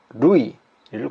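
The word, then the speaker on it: るい: 자, 그래서 이 루라는 여러 루라는 글자가 일본 한자에서는 루이로 발음되는 거예요. 루이.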